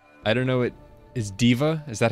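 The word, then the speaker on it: D.Va: Diva is how you say diva.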